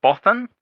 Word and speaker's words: Bothan: yeah, so he's a but Bothan.